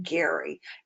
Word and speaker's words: Gerry: the time of elbridge well actually he pronounced his name Gary Elbridge Gerry and it was named for him Gary who later be